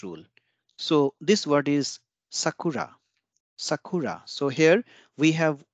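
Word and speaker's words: さくら: applicable and O will not be devised so Sakura will not become Sacra Sakura will not become Sakura it will remain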